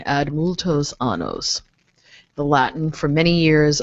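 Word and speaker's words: ad multos annos: birth diocese you know ad muchosanos yes multo's sorry I didn't pronounce that correctly add multo's anos the Latin for many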